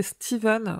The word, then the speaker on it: Stephen: début de ce podcast je vais m'efforcer a prononcé steven ou lieu de stephen king car en anglais stephen cependant ce bien steven et puisque moi je